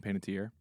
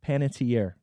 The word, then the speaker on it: Panettiere: I can say her name for me Hayden Panettiere Panettiere thank you it's a it's early trust me